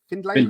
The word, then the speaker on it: Findlay: joined by Finley is it Finley finally Finley yeah Findlay yeah and thank you for pronouncing my first name correct as well you